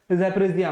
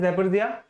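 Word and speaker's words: Zaporizhzhia: तो यूक्रेन के कहा था, ज़ैपोरिज़िया में। तो यहाँ पे आपने याद रखना है ज़ैपोरिज़िया, इसका प्रोनाउंसिएशन है अच्छे से, इसको काफी बार आपने अभी न्यूज में भी देखा होगा।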